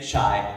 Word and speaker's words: chai: not call it Make Chai Not War. He mispronounced it. He called it Make Chi Not War.